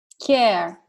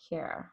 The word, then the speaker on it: KearLife: Care, like the word care in English. Exactly the word. KearLife.